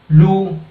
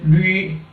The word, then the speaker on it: 绿: type of pinyin, so you cannot pronounce it like Lu. Okay, so it should be rightly pronounced as Lü.